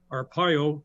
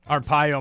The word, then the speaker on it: Arpaio: Well, my mother and father came here from Italy legally, So you got to get my name pronounced right, Arpaio. Arpaio, my apologies.